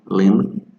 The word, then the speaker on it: limb: Some of those consonants that don't sound when you pronounce it, like silent B, for example, bomb, dumb, climb, okay, calm, limb, thumb, they don't sound like